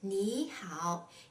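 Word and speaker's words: 你好: well in this case the first third tone is pronounced as a second tone for example in the word ni hao it means how are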